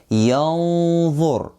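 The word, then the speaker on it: ينظر: So we go yanzur. So if someone is saying yanzur, oh, like this he applied the hiding, but they didn't apply the heavy ghunnah. Yanzur. This is the correct pronunciation.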